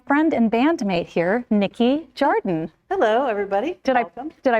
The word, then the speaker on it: Jardin: She's my friend, but I like to pronounce her name like Jardin or Hardim. Yes. Because that's the Portuguese. Or Jardin. Or Jardin. Like French.